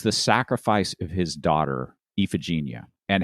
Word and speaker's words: Iphigenia: the Google pronunciation, and it came up as Iphigenia. You're not going to figure it out from the spelling.